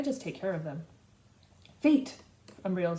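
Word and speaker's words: Phaet: Fate, Umbriel says. Because my name's pronounced like fate, it sounds like destiny's calling every time someone addresses me.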